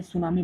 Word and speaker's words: सुनामी: T silent रहता है, क्योंकि अभी हमने देखा ना जापान को, जापान में सुनामी बहुत आते रहते हैं,